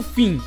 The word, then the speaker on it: Phin: Agora é a vez do Finn, ou Pin, como você preferir pronunciar.